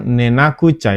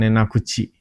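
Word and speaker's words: 寝なくちゃ: Ini minasang nenakucha ya, bukan nenakuchi.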